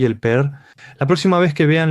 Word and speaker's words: PER: Por eso en Corea simplemente lo llaman per o también lo pronuncian como per. Y en algunos sitios extranjeros a veces omiten la R y simplemente lo indican como P. Así que P, pero, per, todos significan lo mismo.